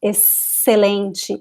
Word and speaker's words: excelente: Or it can sound like S, excelente, excelente, or like a Z, exame, exame.